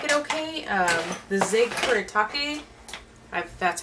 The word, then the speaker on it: Kuretake: The Zig Kuretake, that's how you pronounce it, the comic brush, was fine.